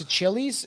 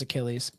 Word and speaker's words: Achilles: um let's just go I I think it's a Chili's and this is my per I'm gonna we're gonna find out how to pronounce this okay uh we were it was Achilles yep so Billy was right I just as